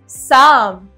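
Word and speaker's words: psalm: incorrect right next is साम साम एस ए एम हमें ई दे रहा है बट व्हाट इ silent here is पी एंड एल पी और एल हमारे इसके अंदर साइलेंट है राइट किड्स अब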